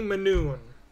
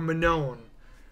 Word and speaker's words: Manone: to go that route winnie manoon or manon the pronunciation goes either way but we're going to